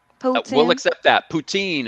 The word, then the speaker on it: poutine: say that again please poden we'll accept that poutine is how it's pronounced in french we will accept that